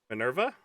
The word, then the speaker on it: Minerva: How do you pronounce this op? Minerva. What? Minerva?